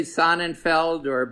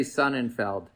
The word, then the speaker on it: Sonnenfeld: And interesting, so it's you pronounce your name Sonnenfeld. I right? do. Others say Sonnenfeld, but I say Sonnenfeld.